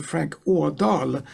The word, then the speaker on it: Adahl: But under my name, Frank Adahl, or Frank Adahl, as it's pronounced in Swedish, you can find out some of the things that I'm doing.